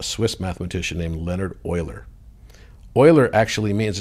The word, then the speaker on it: Euler: Euler actually means, it's spelled E-U-L-E-R, but pronounced Euler, like oil.